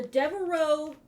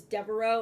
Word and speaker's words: Devereaux: The Devereaux vest. And I only know how to pronounce that because It is the last name for Blanche in the Golden Girls, if you've ever watched that.